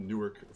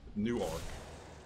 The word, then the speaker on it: Newark: it there's nork which is how you pronounce the Newark from New Jersey and then nuan if you're from Delaware